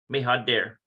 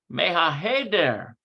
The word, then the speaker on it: מהחדר: Mehader. If I could get the pronunciation proper. Let's see here. Where's my mem? Echa. מהחדר. Mehaheder.